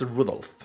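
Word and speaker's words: Rudolf: it's just this anyway this guy's name is pronounced Rudolph he must fade he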